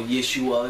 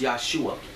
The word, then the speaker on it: Yahsua: But the real truth in real Aramaic is Yahsua. We call him Yahsua because with his name. In Aramaic, we call him Yahsua.